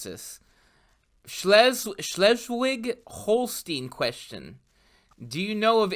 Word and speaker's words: Schleswig-Holstein: Schleswig-Holstein question. Do you know of any good books that explain the issue? Did I say that right? Yeah, Schleswig-Holstein.